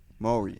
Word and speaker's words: Māori: Māori. Maori.